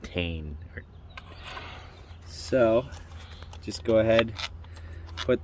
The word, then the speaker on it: Tein: All right, so now you're gonna swap these to the Tein. I thought it was Tein until I watched a video and they're pronouncing it Tein.